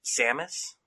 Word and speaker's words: Samus: The second, even bigger inspiration I would have to say, though, is the fact that Samus, did I say it right?